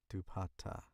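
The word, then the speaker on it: dupatta: Dupat dupata.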